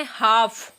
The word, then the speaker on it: half: जैसे यहाँ पे हाफ, HALF, तो वैसे तो रूल के अकॉर्डिंग एल